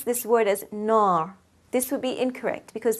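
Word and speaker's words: نار: of fatha, for example, nar. Long vowel of fatha, here I will pronounce the ra with a full mouth.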